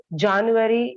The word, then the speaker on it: January: And January, you shouldn't pronounce as January. It's January. Okay, it's January. It's January, it's January. U is silent over there, and A takes the place of the sound.